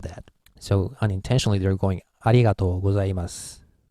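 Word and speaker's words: ありがとうございます: so this case two it ends with su and s is voiceless sound so we have to stop here and start another in short time but since Japanese people think is a little bit of trouble we actually unintentionally drop this you we don't want to start another vowel here so we go like arigato gozaimasu like that well actually I have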